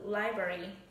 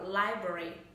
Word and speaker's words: library: Thì thực tế khi các bạn nghe mình đọc, các bạn sẽ thấy là chỉ có thường sẽ chỉ có two syllables, hai âm tiết thôi, đúng không ạ?